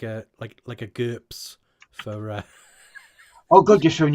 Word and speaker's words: GURPS: from Rob know what GURPS is? It rhymes with burps.